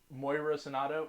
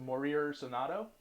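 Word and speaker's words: Morir Soñando: Moira Sonato. No, it's not Moira. It's Morir Sonato.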